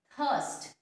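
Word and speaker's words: thirst: थर्स्ट, THURST थर्स्ट, ठीक है, थर्स्ट, इसमें भी आर जो है वो साइलेंट रहेगा।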